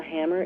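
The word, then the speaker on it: HAMR: existence of the hammer, spelled H-A-M-R, and as it says in WikiLeaks, pronounced the hammer, H-A-M-M-E-R.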